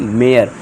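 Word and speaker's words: mare: ए के बाद आर इ आ रहा है। तो इसे क्या पढ़ेंगे हम? मेयर। मेयर यानी कि घोड़ी।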